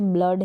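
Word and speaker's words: blood: जैसे यहाँ पर कुछ स्पेलिंग्स होती है, जैसे ब्लड है तो यहाँ पर डबल ओ को अ के रूप में प्रोनाउंस कर दिया।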